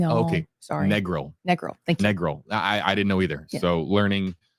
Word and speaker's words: Negril: your IP in okay sorry Negril Negal thank Negal I I didn't know either so learning on